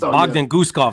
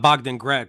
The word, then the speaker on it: Bogdan Guskov: It's Bogdan Guskov, not Bogdan Grad.